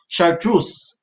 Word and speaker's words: Chartreuse: Pinag-usapan namin to kanina at sabi ko sa kanya, paano ba pinopronounce yan? Chartreuse.